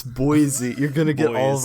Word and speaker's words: Boise: These are all designed by TJ Schwartz in Boise, Idaho.